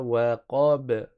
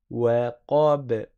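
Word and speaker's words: وقب: Mais le ba, il a une qalqala, on fait rebondir le son. Ça donne wa, qa, b, b, wa, qa, b.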